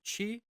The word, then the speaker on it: chi: It's named after the Greek letter chi, which looks like an X. It's pronounced chi, but verbal structure and Hebraisms.